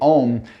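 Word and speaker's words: ॐ: So when we pronounce the Om, it's Aum. And if you're creative, you can imagine A, I, O, U. And then the M at the end closes the vowel.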